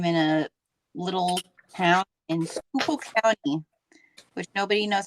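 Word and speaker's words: Schuylkill: Pennsylvania um I'm in a little town in skookul County which nobody knows how to say skookul um because if you see the spelling people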